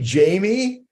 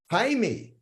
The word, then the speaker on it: Jaime: j-a-i-m-e that could be that could be Jamie uh it's not and so here's the catch it could be Jaime but it's not the pronunciation is Jaime and uh yeah and